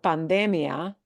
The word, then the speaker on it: pandemia: But notably, this does not have the ia punch. And that means the syllable that we punch harder is that de syllable.